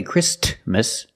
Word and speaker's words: Christmas: We don't say Christmas. The T is between consonants, so it is silent.